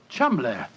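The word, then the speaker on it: Cholmondeley: reason to know that the name Cham is in no way pronounced the way it is spelled but Jo I never thought of that Cham that name spelled c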